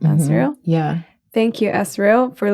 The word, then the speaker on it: Azrael: Is that how you pronounce it? Azrael?